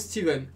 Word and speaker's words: Stephen: Et en anglais, ça se prononce Steven.